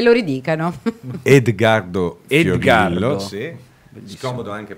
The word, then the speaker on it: Edgardo Fiorillo: Edgardo Fiorillo, Edgardo. sì. Scomodo Bellissimo. anche per l'aereo perché Edgardo. è Fiorillo pronunciato da me.